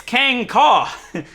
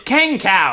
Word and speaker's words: Kang Kaw: that name and say, It's Kang Kaw. Yeah, it's Kang Cow, you know, like beef, big burgers, you know, Kang Cow.